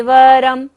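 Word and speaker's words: वरं: मन्ये, वरम, र के ऊपर बिंदी और बाद में क्या है? ह। तो बिंदी का उच्चारण क्या होगा? म। मन्ये वरम हरि, छोटी की मात्रा है तो इसको हमें लंबा नहीं लेंगे।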